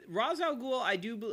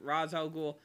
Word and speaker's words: Ra's al Ghul: Now, Ra's al Ghul, or Ra's al Ghul, however you want to pronounce it. I usually pronounce it Ra's al Ghul.